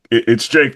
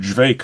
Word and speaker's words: JVKE: mean, yeah, like it's Jake, but just with an upside down A, I guess was yeah, because I was calling him Jvake for a long time.